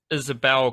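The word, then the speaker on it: Yssabelle: pretty funky thing where I think it's pronounced Isabelle Karen it's y SS a b l so we're going with Isabelle um she is apparently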